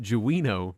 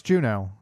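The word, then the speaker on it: Jeuno: And I listened to a 40minute video where the guy called it Jino the whole time. No, it's Juno cuz that's also in 14 now and they pronounce it Juno.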